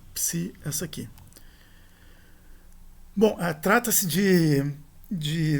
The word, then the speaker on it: psi: A pronúncia da época clássica seria em ei, né? Psei, e não psi.